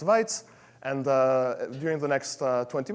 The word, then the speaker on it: Wajc: my name is that random looking assortment of letters are somehow pronounced whites and during the next